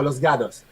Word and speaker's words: Los Gatos: Pero pero los gatos, la T en en acá en Estados Unidos no se pronuncia como t, se pronuncia casi como una d, entonces se llama los gatos.